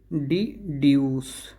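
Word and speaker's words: deduce: डिड्यूस, डिड्यूस नहीं, जा नहीं, सा, डिड्यूस, डिड्यूस, जिसका मतलब होता है निष्कर्ष निकालना।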